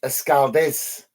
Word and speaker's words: Escaldes: side of the pitch I think it's pronounced escaldez um so uh hibs